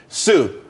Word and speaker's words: Tsu: everyone could be happy Sue CSU it's pronounced Sue though that's a that's